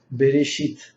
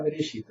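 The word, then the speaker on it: בראשית: Mas, essa palavra aqui escrita, resh, bet, resh, se lembrem que o hebreu se lê de direita à esquerda, tá? Resh, alef, que é mudo, shin, com o pontinho em cima, yud, tab, final.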